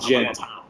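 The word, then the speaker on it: djent: that's why it's called gent. D-J-E-N-T, and the D is silent.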